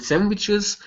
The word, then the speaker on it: sandwiches: word sandwiches right here so the stresses at the beginning make sure to pronounce that es okay so and sentes for everyone and sandwiches for everyone and sandwiches